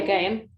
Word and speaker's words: Gaiam: Yeah, Gaiam.